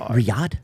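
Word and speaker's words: Riyadh: Is that how you say it? Riad. Riad. All right, cool.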